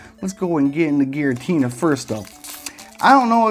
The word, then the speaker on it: Giratina: Let's go and get into Giratina first though. I don't know if that's really how you can pronounce it. Giratina, I heard other people call it like Garotna, which seems a little silly to me.